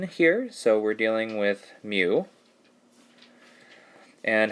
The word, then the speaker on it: mu: use this greek letter mu so it's like m u is how we pronounce it or like a cow like mu but it looks like